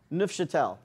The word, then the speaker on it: Neufchâtel: Yeah, but you could use the the other stuff, the neuf, who knows how to pronounce it? Neufchâtel.